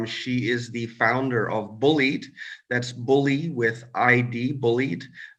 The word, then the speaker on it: Bullyid: and beautiful guest she is the founder of bullied that's bully with id bullied um she was